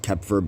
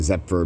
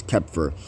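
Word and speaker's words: Xeper: happens is zephyr or kepfer uh it's actually pronounced kepfer but i'm saying zephyr but it's kepher now what you need to understand this is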